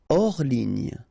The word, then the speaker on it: hors ligne: Hors ligne, final E here not pronounced, so ligne, and then here S is not pronounced, the final one, so hors, and remember H doesn't exist, so hors ligne.